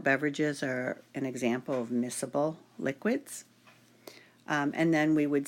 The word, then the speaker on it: miscible: There's a special vocabulary word when you're referring to two or more liquids that are soluble, and that is miscible. That C is silent.